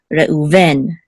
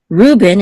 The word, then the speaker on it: Reuven: So we know it's Reuven, Reuven, instead of Ruben in English. In English, I guess usually default is the accent mark is on the first syllable. In Hebrew, the default is the accent mark is on the last syllable. However, there's exceptions. I guess in both languages there's exceptions. So English is Ruben, Hebrew is Reuven, right?